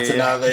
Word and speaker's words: Natanavā: So Natanavā, is that the correct pronunciation? Yeah, yeah, you don't go Yeah, there. Yeah, Natanavā, yeah, yeah.